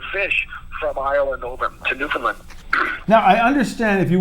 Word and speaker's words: Newfoundland: Make sure it's Newfoundland. Newfoundland. I like to say the land. Even though it's spelled Newfoundland, you pronounce it Newfoundland. Is that what you're saying? Land. They say the land part.